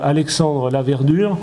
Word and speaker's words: Alexandre Laverdure: Donc là aussi par ordre alphabétique, donc Alexandre Laverdure, donc qui est Insurance Specialist chez Pitney Bowes Software. Ça se présente bien. Oui, c'est ça. C'est bien prononcé.